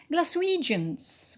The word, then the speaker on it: Glaswegians: be it's an exception glaswegians glaswegians is a um an adjective and the stress is on the penult we the stresses on we because of the stress